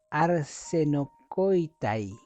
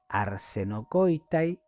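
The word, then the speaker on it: ἀρσενοκοῖται: Y esta palabra se pronuncia arsenocoitai. Arsenocoitay, que aparece en Primera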